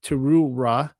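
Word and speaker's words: תרועה: Uwn, a remembrance of Thura U Aha. You're killing me, Smalls. A Maqara Qadasha. And so this here among her many footnotes is pronounced Teruw'ah in modern Israelite Hebrew.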